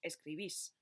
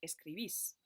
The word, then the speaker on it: escribís: Donc, escribir va donner escribís. Attention encore une fois, vous avez vu, il y a un accent sur la terminaison sur le i, donc prononcez, insistez sur cette voyelle-là, escribís.